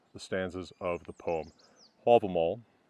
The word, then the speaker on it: Hávamál: stanzas of the poem all them all that is the Old Norse pronunciation the modern Icelandic pronunciation is album out and these are produced